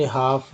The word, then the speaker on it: half: किस तरह से पढ़ते हैं, कुड, हाफ, वॉक और वॉम। अब देखिए एन लेटर साइलेंट कब होता है, यदि शब्द का अंतिम